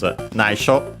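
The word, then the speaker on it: 秘書: secret from everyone but secretary is nisho uh accent by the way on the last syllable nop but yeah I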